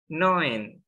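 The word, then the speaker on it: neun: ada ilmunya lagi nih tulisannya n tapi cara baca yang benarnya itu bukan namun tapi lebih kepada noen kalau teman-teman ingat tadi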